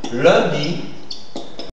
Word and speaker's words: lundi: Non, mais la bonne prononciation, ce serait un jour. Un jour, d'accord? Ou lundi.